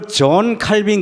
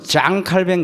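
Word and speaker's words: Jean Calvin: 여러분, 세계적인 종교개혁자가 영어 발음으로 존 칼빈 그러지만은 프랑스어 불어는 장 칼뱅 그래요.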